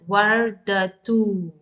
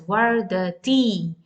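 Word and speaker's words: وردة: When you continue with the dhamma, you pronounce as wardatu. And now if it is with kasra, in pausal form, you will pronounce as ah, warda. And when you pronounce as wardati.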